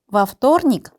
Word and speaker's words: во вторник: 그리고 여기서 중요한 거, 전치사에는 강세가 없다. 전치사를 발음할 때는 뒤에 명사랑 한 단어인 것처럼 발음을 해야 한다. 근데 вторник의 강세가 o에 있기 때문에 a로 발음을 해서 во вторник가 되는 거예요. во вторник у меня был экзамен.